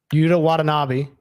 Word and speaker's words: Yuta Watanabe: I don't think it was him, but Yuta Watanabe. That's how you say his name. They must have spelled it out a little bit better on this one. Watanabe.